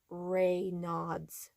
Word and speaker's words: Raynaud's: put on the screen, but because of the pronunciation, I want to be very clear. It is called Raynaud's.